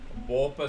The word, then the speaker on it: Borpa: I'll make sure that I'm pronouncing it correctly. I'll go back to the previous maps. Royal Borpa Spin. Borpa Spin.